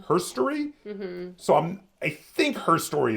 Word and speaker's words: Her Story: So I think Her Story is the correct way to pronounce the title.